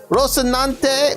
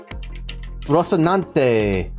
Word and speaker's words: Rocinante: Rocinante! Wait, how the fuck do I... Damn it! Rocinante. Right? That's how you pronounce it, right? Rocinante. In Spanish, you can say it as Rocinante.